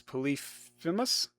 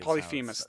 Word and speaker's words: Polyphemus: Polyphemus, I think, is how you pronounce it. Polyphemus, I think. Polyphemus, thank you.